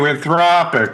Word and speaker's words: Anthropic: Anthropic. And the the the the accent is on the second sy.